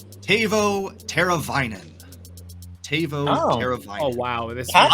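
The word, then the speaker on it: Teuvo Teräväinen: This name is pronounced Tavo Teravainen.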